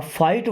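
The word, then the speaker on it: fight: अब फाइट word में देखिए टी के पहले अगर जी एच आता है तो ये दोनों लेटर साइलेंट होते हैं।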